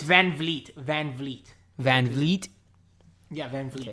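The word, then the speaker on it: VanVleet: Because it's like Van Fleet or Van Vliet? It's Van Vliet.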